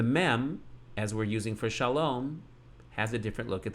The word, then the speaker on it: shalom: And the dot in the air above the vav is holding the spot of the O sound. For now, the lamed would be L, and the cholam vav would be O. Shalo, shalo. So far we have shalo. And the only way we make shalom is to put a closing consonant.